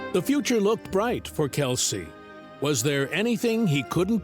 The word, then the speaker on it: Kelce: Although the extended side of his father's family pronounces their surname as Kels, he opted for his father's pronunciation, Kelsey.